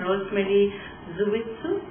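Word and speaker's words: Rosemary Dzuvichu: panelists would be Vrinda Grover, Uma Chakrabarti, and Rosemary Zuwitsu. That's how you pronounce it.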